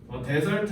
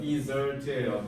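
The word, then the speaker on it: dessert: 데설트 하면 너네 미국 여행 가서 저기 웨이터님 저한테 사막 하나만 주세요라고 하는 거예요. 데설트라고 하시면 안 돼요. 디저트예요.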